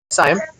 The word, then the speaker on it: Saiyam: my name is," let me see if I'm pronouncing your name correctly. Saiyam? Yeah, it's cool. Saiyam.